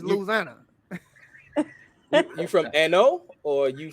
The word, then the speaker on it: Louisiana: You ain't saying it right. It's Louisiana.